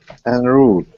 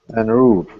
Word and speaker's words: en route: En route. En route. Do I pronounce correctly? En route.